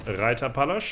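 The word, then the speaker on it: Reiterpallasch: Yeah, we also picked up last time the Reiter Palace, or Reiter Palace, as I would pronounce it in proper German.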